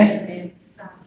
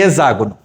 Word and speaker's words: hexágono: Hexágono. Hexágono. Hexágono. Hexágono. Hexágono. A pronúncia correta é hexágono. E eu toda vida falei heágono.